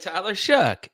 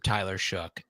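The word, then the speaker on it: Tyler Shough: It rhymes with one of the worst curse words you could say. Oh, sh. There you go. You got it. Tyler Shook, you did good.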